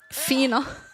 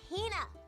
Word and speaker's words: Hina: Fina, you keep saying it wrong. It's Hina. Hina.